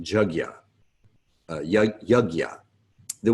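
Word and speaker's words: yajña: it it's chug yah so a jug like a jug of water yeah like yeah it's how it's pronounced jug yah yah yah yah the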